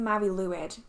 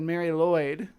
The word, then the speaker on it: Mari Lwyd: The pronunciation said Mari Lwyd, and I'm gonna go with that, I guess.